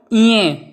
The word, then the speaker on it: ञ: ये भी नासिका से बोला जाता है, ञ। इसका उच्चारण क्या होता है? ञ।